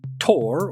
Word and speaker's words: Thor: as Thor the Mighty, though in the film they pronounce his name Thor.